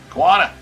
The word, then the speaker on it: Quanah: Roadrunner barbecue battle in Quanah, Quanah? Quanah? How do you say that, Grant? Quanah? That's a state championship. How do you say that, Grant? Quanah? Quanah, Quanah, thank you.